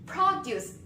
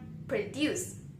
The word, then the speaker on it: produce: For example, like produce and produce. Produce is a noun, produce is a verb.